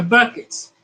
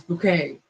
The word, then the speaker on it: Bucket: It is about the Buckets. Though she says their last name is Bouquet. It's spelled Bucket, Bucket. But she calls them the Bouquets.